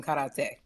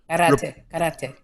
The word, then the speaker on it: karate: Everybody's toes clench the floor when you don't have socks on and you're doing karate. That's fair. Okay, so don't just say it, Chris. Karate. Just roll your R.